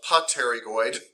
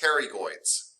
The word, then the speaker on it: pterygoids: looks like they're spelled potterygoid but they are pronounced the p is silent they are pronounced pterygoids and there is a